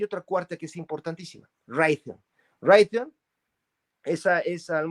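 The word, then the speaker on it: Raytheon: me faltó hay otra cuarta que es importantísima ron ron esa es a lo mejor mucha gente ni Ha oído la palabra ron se escribe como r a y t h e o n reay theon no Sabrá Dios que significa pero esa como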